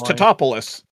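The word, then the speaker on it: Tatopoulos: And he's always like, it's Titopoulos.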